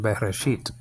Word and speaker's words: Bereshit: And then there's a tau there, last letter of the Hebrew alphabet, and that has different pronunciations, but we're going to make it a T sound in Bereshit.